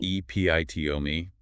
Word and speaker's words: epitome: EPITOME. 4 syllables. Stress on the second.